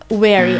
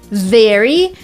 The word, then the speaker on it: very: very by the way first of all let's pronounce it together it's not wary I know wary is is another word and there are two sounds in the English language they're very similar in the word very we kind of touch our lip a lower